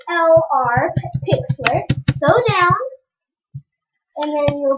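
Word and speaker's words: Pixlr: Then go to go to Pixler and then go down. Go down. Go down. So it will open you to this page. It's spelled P I X LR Pixler.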